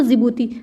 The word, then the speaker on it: Djibouti: Somalia, Ethiopia, Eritrea और जिबूती। जिबूती में जो डी होता है वो साइलेंट रहता है।